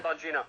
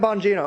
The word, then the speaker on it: Bongino: So, you had that little interesting spat with Dan Bongino. Is that how you pronounce it? Dan Bongino, yeah. Dan Bongino.